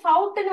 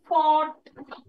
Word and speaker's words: fought: இது ஃபவுட்னு வாசிக்காதீங்க. ஃபவுட் இல்ல, இது fought. You have to pronounce it as like fought. This is fought. F-O-U-G-H-T, fought.